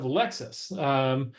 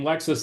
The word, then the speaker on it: Lexis: Well, as the name is almost identical, just one letter off, and the pronunciation is the same, Lexus and Lexus.